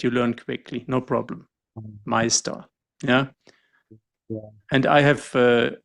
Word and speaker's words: Meister: It's not Meister, it's Meister. And you see the ER at the end is pronounced differently than it's written.